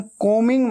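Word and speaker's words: combing: आप बाल बना रहे हैं, आई एम कोमिंग my hair, कोमिंग, कोमिंग ऐसे बोलना है, ठीक है। बी हमेशा साइलेंट होता है, स्पेलिंग में आता है लेकिन बोलते वक्त उच्चारण में नहीं आता, प्रोनाउंसिएशन में नहीं आता।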